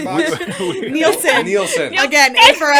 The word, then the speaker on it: Nielsen: to see arthur and i drinking beers and mispronouncing towns to get ratings on the nelson box nielsen nielsen again yeah it's uh that's what's